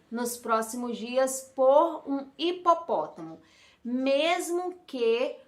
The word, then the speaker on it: hipopótamo: E quando a gente fala hipopótamo, o que a criança está escutando é I, é o som do I, porque o H é mudo.